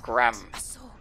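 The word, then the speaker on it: Gramr: Ramir. Or you have to go to Gram. The R at the end is silent.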